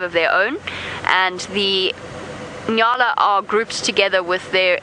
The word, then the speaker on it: nyala: between male and female Nala and for new viewers that is spelled n y a o a Nala the male are large